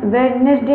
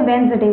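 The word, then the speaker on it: Wednesday: तो आप लोग ये आज से नोट कर लीजिए कि आपका ये प्रोनंसिएशन होता है और ये वेडनेसडे ना होकर वेंसडे होता है।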